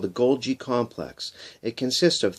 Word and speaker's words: Golgi: or the Golgi complex spelt goal guy gol GI pronounced Golgi most of the protein